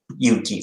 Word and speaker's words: Yuki: courage fighting spirits yeah in street japanese my name is pronounced as you you yuki not snow it's different next ah